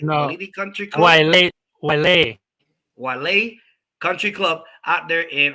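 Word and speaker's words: Waialae: Walili, did I say it right? No. Walili Country Club. Wale Country Club out there in obviously Hawaii.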